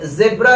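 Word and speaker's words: zebra: लोग कहेंगे इसे जेब्रा नहीं जीब्रा पढ़ते हैं। अरे भाई हमारे यहाँ इसे जेब्रा ही पढ़ते हैं और ब्रिटिश लोग भी इसे जेब्रा ही पढ़ते हैं क्योंकि इसका प्रोनाउंसिएशन जेब्रा है ना, लेकिन अमेरिकन इसे जीब्रा पढ़ते हैं, यानी एक्सेंट का फर्क है और कुछ नहीं, वर्ड एक ही है।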